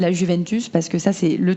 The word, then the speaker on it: Juventus: le J n'existe pas alors qu'il y a la Juventus, parce que ça c'est le truc qui revient à chaque fois. Il faut savoir que la Juventus, déjà en italien ça se dit la Juventus